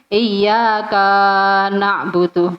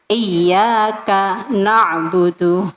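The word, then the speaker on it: إياك نعبد: Ada yang membacanya dipotong tapi iya ka na'budu, bukan itu. Tapi iyyaka na'budu wa iyyaka nasta'in, begitu. Ini kan kita sedang memberi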